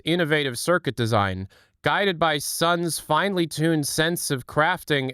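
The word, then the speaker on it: Sunn O))): Also, it's pronounced sun.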